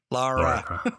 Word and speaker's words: Lara: for you, and I was hoping you could pronounce it for me. Lara. Lara. You see, you were almost there that time. You were almost there. He said Laura before.